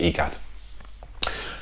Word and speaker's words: ikat: Whilst you're enjoying it, whilst you're enjoying your ee-kaht, the real pronunciation is ee-kaht, stick on Purple Haze by Jimi Hendrix, because that song sums this beer up perfectly.